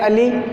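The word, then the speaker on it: अलि: बड़ी मात्रा आती है, लेकिन बोलने में और पढ़ने में हमें एक जैसे लगते हैं, अली अली, लेकिन उच्चारण इनका थोड़ा अलग होगा। जैसे अली और ये हो जाएगा अली।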